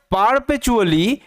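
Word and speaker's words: perpetually: ছিল অফ সন্নস ছেলেদের নিয়ে হু যারা ওয়ার পারপেচুয়ালি কোরলিং এমং দেমসেলফ আচ্ছা এবার ভালোমতো মানেটা বুঝবে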